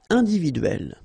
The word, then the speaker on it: individuelle: So remember when you get this E and then double consonant, and especially here, it's the same one. That's the idea. It will open the sound of E, so you will pronounce it like E.